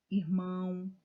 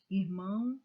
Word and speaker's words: irmão: Irmão, artesão, pagão. Notem que a última sílaba foi dita com mais intensidade. Irmão, irmãos.